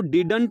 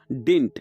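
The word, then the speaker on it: didn't: इसको डिडंट नहीं बोला जाता, इसकी प्रोनाउंसिएशन होती है डिंट, यानी कि इसको हम डिंट भी लगा सकते हैं।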